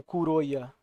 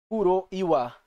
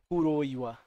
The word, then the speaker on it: Kuroiwa: E galera, temos aí um suspeito aí, chefe do Ayabe, o Kuroya. Kuroiwa, acho que é assim que se pronuncia melhor. Porque tem o WA, né? Kuroiwa.